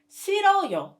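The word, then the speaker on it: 싫어요: not to ha okay another good example is siroyo hate can you see hyun patchim and ian in this case you must say goodbye to you goodbye and pronounce siroyo for additional note if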